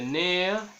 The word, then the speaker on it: nerf: el caso de gourmand, le F en el caso de nerf, le G en el